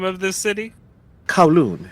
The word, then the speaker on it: Kowloon: how did you pronounce the name of this city kowloon it's a part of hong kong and the